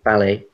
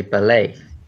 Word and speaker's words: ballet: We'd say ballet. Going to see the ballet, you know, dancing. Whereas in American English, you say ballet with the accent, the stress on the second half.